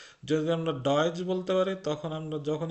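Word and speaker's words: Deutsch: এই যে যে ইউ, এটা কি আমরা ডেউচ বলছি? আমরা এটা ডয়েচ বলছি। যদি আমরা ডয়েচ বলতে পারি, তখন আমরা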